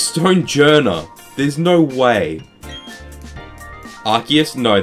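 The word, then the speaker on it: Stonjourner: Like stone jour is officially pronounced as stone janna. No the it isn't. Who's calling it stone janna? It's stone jer.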